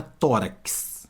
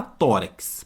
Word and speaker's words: tórax: seis fonemas seis sons Olha a palavra tórax repare que esse x aqui ó tem som de cs ó fala tórax pode pausar o vídeo e fala tórax ó tórax tórax tórax então tem